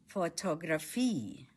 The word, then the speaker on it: Fotografie: photography in German Die Fotografie Stress is on the last syllable. Fotografie My sister likes photography. Meine Schwester mag Fotografie.